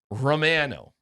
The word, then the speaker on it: Romano: He spells it just like Ray Romano, but he pronounces it Romano.